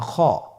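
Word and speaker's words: خ: খ হরফটি হলো মোটা হরফ, উচ্চারণের ক্ষেত্রে মোটা হবে। ছবিতে দেখুন খ হরফটি কীভাবে উচ্চারণ করতে হবে। খ হরফটির মাখরাজ হলো কণ্ঠনালীর শেষ ভাগ হতে উচ্চারণ করতে হয়, কণ্ঠনালীর শেষ ভাগ।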